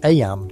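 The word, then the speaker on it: Eyam: It's now the summer of 1665, and we find ourselves in Aam, a small village nestled in the picturesque hills of Darbisha, England. Aam, you know, is pronounced just like em.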